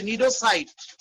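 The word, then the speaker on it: cnidocyte: এই বিশেষ কাঁটাযুক্ত কোষগুলোর নাম হচ্ছে নিডোসাইট। এই বিশেষ কাঁটাযুক্ত কোষগুলোর নাম, এত জোরে শব্দ করলে কি পড়ানো যায়? এই বিশেষ কাঁটাযুক্ত কোষগুলোর নাম নিডোসাইট। সি থাকবে, উচ্চারণ হবে না, NIDOCYTE, নিডোসাইট।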